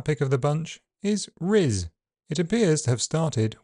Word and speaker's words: rizz: Starting with a smooth alveolar r, it moves to a near-close, near-front I, and ends on a voiced z.